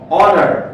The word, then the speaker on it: honor: Order শব্দটা h দিয়ে শুরু হলেও এটার উচ্চারণটা ভাওয়েলের মতো, honor, ঠিক আছে, সো it was an honor for me হবে।